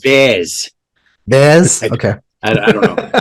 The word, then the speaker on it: Vaz: it's pronounced Vaz.